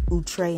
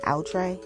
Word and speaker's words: outré: way to say it like how people say utre and outre i don't know anyway